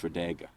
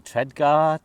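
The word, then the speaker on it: Tredegar: Tradega. Tradega. Yeah, Tradega Square. See, I was going Treadgar. Trago. I'm saying it like I actually know. I think it's Tradega.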